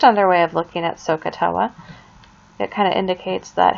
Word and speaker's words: SOHCAHTOA: So you can remember it by looking at SOHCAHTOA. SOHCAHTOA. So, if you spell it out, S-O-H is there, Ka, C-A-H, and Toa, T-O-A.